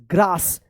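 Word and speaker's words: grass: यानी ए के बाद अगर डबल एस आता है तब भी इस ए का आ उच्चारण होता है। ठीक है ना? जैसे यहां पर देखिए जी आर A double S ग्रास देखिए यहां पर भी डबल एस आया है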